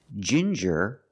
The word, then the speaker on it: ginger: With ginger, we use the j sound like juice and jump. J and the regular n.